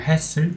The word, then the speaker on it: HASL: 네, 우리는 이 HASL 보통 우리나라에서는 할스라고 읽는 분들도 좀 있는데 사실 그냥 읽어보면 해슬 정도가 되겠죠. 줄임말인데 Hot Air Solder Leveling 이라는 약자입니다.